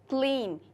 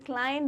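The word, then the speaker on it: Klein: आप ये मत सोचिए कि ये क्लीन होंगी या क्लाइन होंगी। ये एक ऑस्ट्रेलियन राइटर हैं। तो ऑस्ट्रेलिया में जो प्रोनाउंसिएशंस होते हैं वो यूके या यूएस इंग्लिश से थोड़े अलग होते हैं, इसलिए अगर आप इन्हें क्लाइन बोलेंगे तो that would be much better and appropriate. तो इनका नाम होगा रॉबिन मैकमैगे क्लाइन।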